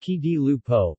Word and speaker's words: Occhi di Lupo: Occhi di Lupo, pronounced Chi di Lupo, literally, wolf eyes, is